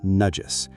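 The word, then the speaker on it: najis: And finally, nudges, pronounced nudges, ritual impurity.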